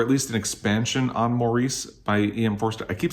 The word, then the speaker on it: Maurice: least an expansion on maurice by e.m i keep saying maurice and it's pronounced morris in britain but i i was